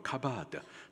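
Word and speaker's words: כָּבֵד: 여기 완강, 히브리식 발음으로 카바드, 뜻은 무겁다 라는 뜻이에요.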